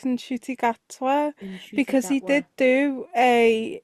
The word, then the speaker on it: Ncuti: to pronounce his name I believe it's eny like inshoy yeah like in chy because he did do